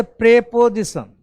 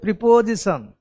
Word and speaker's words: preposition: अगर हम इसको तोड़ें, ये मिला, ये प्री पोजिशन, कुछ लोग बोलते प्रेपोजिशन, कुछ लोग बोलते प्रीपोजिशन। The correct spelling is प्रीपोजिशन, correct प्रोनाउंसिएशन इज प्रीपोजिशन, नॉट प्रेपोजिशन।